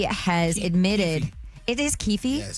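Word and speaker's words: Keffe D: So, Kef D has admitted it is Kefi.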